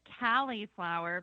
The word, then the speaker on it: Cali'flour: Now, do you pronounce it cauliflower, Amy? We actually pronounce it cauliflower because it came from California.